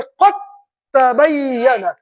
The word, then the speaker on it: قد تبین: متوجہ رہیے ادھر، یہاں پہ ہے قد تبین، لکھا جائے گا قرآن شریف میں اس طریقے سے، لیکن تلفظ کر دیں گے قد تبین.